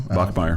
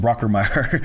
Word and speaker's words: Bachmeier: Bachmeier. Bachmeier. I want to I keep want to call him Brockermeyer.